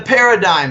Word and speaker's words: paradigm: big moves in the paradigm shift no paradigms not just a cool world with cool word with a silent G it means that the